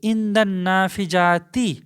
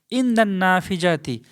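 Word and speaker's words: عند النافذة: মানে ছিল জানালা তো ইন্দান নাফিজাতি এখন আল যোগ হবে কিন্তু লামের উচ্চারণটা হবে না ইন্দান নাফিজাতি ওকে তো এখানে বাড়ির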